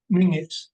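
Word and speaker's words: Menzies: it be known that the correct Scottish pronunciation of men's was Ming I'd just like to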